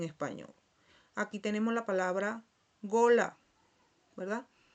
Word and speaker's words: gola: Aquí tenemos la palabra gola, ¿verdad? que es una o abierta, que significa cuello.